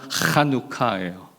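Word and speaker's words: חנוכה: 가래 끓는 소리 잘하면 된다 그랬잖아요. 이거. 네. 그래서 한우카 우리가 그냥 이렇게 써 있는 네. 한글을 읽을 때는 하누카라고 읽겠지만 히브리어 원래 발음으로 하면요. 하누카요.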